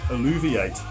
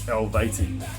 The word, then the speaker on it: Helvete: I used to say it was Alluviate, but now it's Helvete.